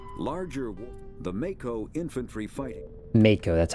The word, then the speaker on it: Mako: about it here larger the Mako infantry fighting Mako that's how you pronounce it the Mako infantry fighting vehicle is